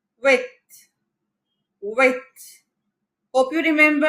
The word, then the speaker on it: huit: 8, huit. Huit. Hope you remember H is silent, so it is pronounced huit.